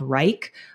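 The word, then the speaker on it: Wrike: process I use a project management software called Reich um wri I ke is how it's spelled and we built out a full template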